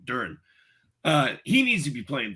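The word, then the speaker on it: Duren: Jalen Duran. Why am I saying his name wrong? Duran.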